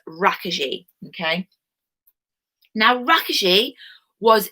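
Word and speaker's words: Rákosi: cosy but he's actually the way you pronounce it is raka G okay now raakhi she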